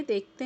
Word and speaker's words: the: डी का pronunciation कब करते हैं? किसी वॉवेल से शुरू होने वाले शब्दों के साथ जब THE का प्रयोग करते हैं तो उसे दी पढ़ा जाता है।